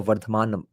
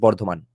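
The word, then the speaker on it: বর্ধমান: Composed in the Burdwan region, basically वर्धमान reason, वो बर्डवान भी British उच्चारण है. चलो आज से हम इसको वर्धमान बोलना शुरू करते हैं, एटलीस्ट बर्धमान.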